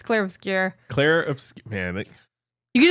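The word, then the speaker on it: Clair Obscur: It's not Obscura. Oh my god. No, I don't think so. It's spelled O P S. No. Yeah, you're right. U obscure, but I keep saying clear obscure. It's clear obscure.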